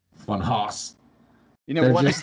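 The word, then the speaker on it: Funhaus: And then channels, I really fucking like channel Funhouse. It's just hilarious, like, and it's spelled Funhouse, like Haus, but they are hilarious.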